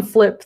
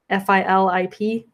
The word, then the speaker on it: Filip: I always want to call him that just because of how he spells it. Filip. Yeah, it's kind of a weird way to spell it, but I make the mistake too.